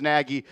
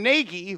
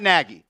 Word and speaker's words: Nagy: Kelsey says Naggie. Everyone says Naggie. It became Nai when the Chicago Bears fans started speaking about them because they can't talk properly. It's Matt Naggie. That That's how you say his name.